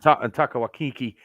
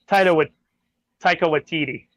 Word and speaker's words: Taika Waititi: And Taika Waititi puts good music in. He's a good director. Did I say it right? Not even close. I fucked that up too. Taika Waititi.